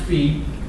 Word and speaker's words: phi: All right, phi, that's pronounced phi, pronounced like that, F-E-E, signifies the parameters and equals the relationship of the strength of those two variables.